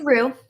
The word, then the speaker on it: Rue: And you responded with, is it Rue? How do you say it? Yeah, it's Rue. Like Rue? The sauce. Yeah. Like the sauce.